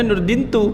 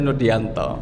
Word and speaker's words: Nurdianto: Di ijazah juga kayak gini, bacanya Nurdintu padahal maunya adalah Nurdianto. Ya karena dari awal sudah kakak kelas.